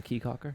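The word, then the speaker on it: Caye Caulker: Go to Key Calker. It's a little island. They got a bar in the middle of the island. Key Calker. Yeah, but it's Caye, but they pronounce it Key.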